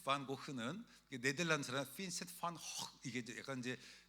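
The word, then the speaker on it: Van Gogh: 고라고 읽는 거예요. 너무 신기하지 않아요? 원래 그 빈센트 판고 흐는 네덜란드 사람 빈센트 판 확 이게 약간 이제 그 쥐발가 더럽게 나오잖아요.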